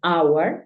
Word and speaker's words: hour: Pero hay algunos casos, como 4 palabras en las que la H es muda. Por ejemplo, hour, que es hora. Tenemos honor y tenemos honest.